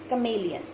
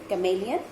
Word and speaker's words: chameleon: of chameleon - just don't get confused it's chameleon the pronunciation is chameleon and chameleon is Oh as an animal belongs